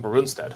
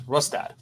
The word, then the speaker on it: Rustad: it right rustad rustad I keep on saying bonstead but it's rustad it's a German yes um John rustad